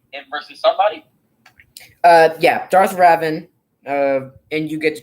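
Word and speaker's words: Revan: get confused and i'm calling him robin even though he's pronounced raven i'ma call him raven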